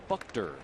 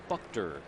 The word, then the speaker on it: Buchter: We are now told it's pronounced Buchter. Buchter.